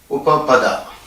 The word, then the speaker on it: Upapada: UPAPADA. This is the way you have to pronounce it, and you can use the short form UL.